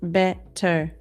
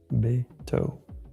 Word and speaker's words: Beto: And it's pronounced Beto. Okay, sorry. Beto. Yeah, I always say Beto. Beto. Beto. Beto. Like a toe.